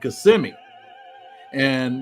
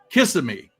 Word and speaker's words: Kissimmee: It's called Kissimmee, but everybody pronounces it Kissimmee because it's Kissimm, and that's a big